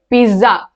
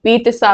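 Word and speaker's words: pizza: ठीक है, पिज्जा नहीं, पित्सा होता है।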